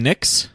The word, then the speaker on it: Nicks: in my brain iam Hakeem Nicks rhymes with mix thing brawling kind of